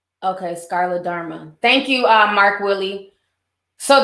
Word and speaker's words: scleroderma: Okay, so the disease is pronounced scleroderma. Okay, scleroderma.